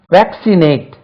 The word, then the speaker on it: vaccinate: vaccinate, அம்மை மருந்து குத்து. vaccinate, VACCINATE, VACCINATE, vaccinate, VAC, vac, CIC, vaccinate, vaccinate, VACCINATE, vaccinate, vaccinate first syllable.